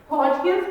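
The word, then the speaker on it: Hodgkin's: हॉजकिन्स disease, हॉजकिन्स के अंदर डी जो है साइलेंट है।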